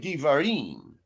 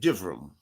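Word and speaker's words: Devarim: We call it dvarim. They call it divum.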